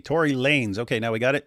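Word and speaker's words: Tory Lanez: So apparently people in the chat are saying his uh name is pronounced Tory Lanes. So it's Lanes and he just styles it with a Z. Tory Lanes.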